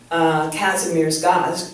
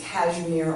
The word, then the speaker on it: Kazimierz: And my client, Kazimierz Gaz, pronounced Kashmir or Kazimierz Gaz, helped him write that book.